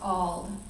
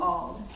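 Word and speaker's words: Auld: daughter Lucretia and her husband Thomas Mr Thomas ald and that is spelled a-u-l-d and for the next two years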